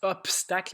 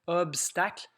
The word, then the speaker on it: obstacle: Il y en a qui prononcent obstacle, mais c'est vraiment obstacle. On peut faire un petit dessin comme dans une course à obstacle. Il faut franchir la barre du B ici.